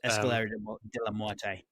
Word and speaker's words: Escalera de la Muerte: Escalera de la Muerte.